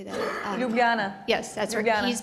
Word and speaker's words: Ljubljana: my oldest is 21 it was just in lilja blonde how do you say that ljubljana yes that's her guy he's been studying abroad